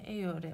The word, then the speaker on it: Eeyore: Biliyorsunuz bu karakterin ismi Eyore. Yani Winnie the Pooh'daki eşek karakterinin ismi Eyore olduğu için o şekilde telaffuz ediyorum.